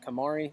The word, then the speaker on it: KonMari: love and that's uh I don't know if it's pronounced Marie I've read her book actually um which is talking Kamari it's Kamari yeah it's terrible there's a